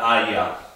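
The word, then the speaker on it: Eier: Y el plural sería AIA.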